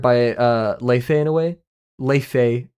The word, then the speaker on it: Laufey: Leife, or it's Laufey, but like Leife.